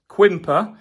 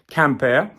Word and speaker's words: Quimper: way to Camp air pronounced quimper if you're a really bad Brit but it's actually pronounced camper on the Friday we're